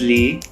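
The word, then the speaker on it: 梨: Also, the correct pronunciation is li. The tone goes upwards.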